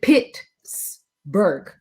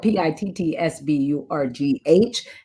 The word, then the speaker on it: Pittsburgh: i'm from expert and please do not say pittsburgh that's not how you say it i know it is spelled p-i-t-t-s-b-u-r-g-h and you better make sure you put the h on it um but when you say it you say like p-i-x it's pittsburgh pittsburgh okay no people kicks